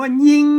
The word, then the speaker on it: ยิง: มัน ก็ ตรง ปริวาส มัน กะ ตัว ย ยักษ์ เอ่อ ไม่ กี้ กะ สระ อี นะ ครับ ตัว งาม ก็ งอ งู นะ ครับ อ่า ย ยักษ์ ไม่ สระ อี งอ งู นะ ครับ อ่าน ว่า ยิง นะ ครับ อ่า อ่าน ว่า ยิง แล้ว แบบ ถ้า ท่าน เขียน